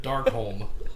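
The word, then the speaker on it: Darkholme: Raven dark home sorry dark home it was it rhymes with Simone close same thing I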